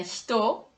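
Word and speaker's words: 火: Avant, c'était ichi devient hito et ni devient futa.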